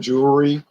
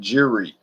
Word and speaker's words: jewelry: How you say that word, jewelry? That's a hard word to say, jewelry. I hear people saying jury, like a jury trial.